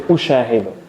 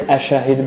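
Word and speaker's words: أُشَاهِدُ: We say ushahidu. Ushahid. We don't say ashahid because it's a bit difficult in the pronunciation.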